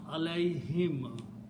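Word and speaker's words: عليهم: When you write down these together, Allah and whom, okay, it will be pronounced alayhim, to them or upon them.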